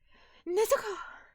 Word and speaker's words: Nezuko: Or if it's like you're trying to say it like in the anime, it's like Nezuko. Nezuko-chan. You got to say it real fast.